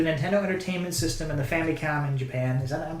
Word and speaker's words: Famicom: It's a 2D action platformer for the Nintendo Entertainment System and the Famicom in Japan. I'm pronouncing that right? Yeah, Famicom.